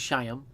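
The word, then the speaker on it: Chaim: anybody because of this i'd say cheyenne bloom and it is cheyenne it's not hayam cheyam i asked a jewish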